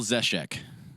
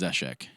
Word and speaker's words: Zeshek: It's Michael Zeshek. Okay. That's the appropriate way to say Shroud's name is Zeshek.